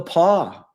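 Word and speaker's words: The Pas: Um, you know, I've been to the Paw and it's it's pound it's spelled P A S.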